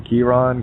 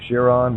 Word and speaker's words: Chiron: which what's Pluto's anybody Chiron whatever he some people pronounce the Kieran Chiron or shear on whatever the case may